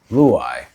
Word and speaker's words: Luyeye: Luyeye.